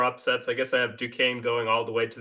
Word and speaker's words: Duquesne: Is it Duquesne? Duquesne. Yes. Okay. It's French.